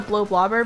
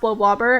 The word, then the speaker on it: Bloblobber: to be honest but it looks like it's pronounced blow blobber and so that's what i've always called it uh wait what's the